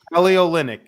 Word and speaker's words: Kelly Olynyk: Kelly Olynyk.